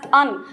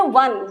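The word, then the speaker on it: one: हम इसे अन तो नहीं कहते। We don't pronounce it एज अन। हम इसे क्या कहते हैं? वन। ₹1 नोट।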